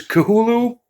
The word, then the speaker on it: Cthulhu: kahulu and the pronunciation cthulhu with the extra t in the middle came much later due to a um a game that was put out the call of cthulhu but he is kahulu and he is here